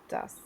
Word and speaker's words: was: Vas.